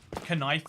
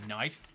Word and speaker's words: knife: differently but the problem is is that because kife is so awkward to pronounce people just start saying knife but they're still saying the word kife you